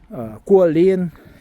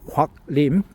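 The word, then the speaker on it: Guo Lin: Guolin is a Chinese lady. Her name in Korean is Huak Lim, but Chinese pronounce it Guolin.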